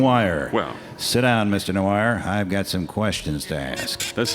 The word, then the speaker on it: Noir: Noah where's Debra ron has been taken into custody for retraining mr. Moyer so give me the serial number of your coffee maker mr. Knight the name is pronounced noir Oh okay give me